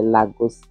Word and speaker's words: Lagos: On ne pouvait pas te laisser souffrir dans les rues de Lagos et de Lagos, j'appelle, prononce ça en français, Lagos. En français, on prononce Lagos.